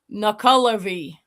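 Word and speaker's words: Nuckelavee: The correct pronunciation is Nuclavy.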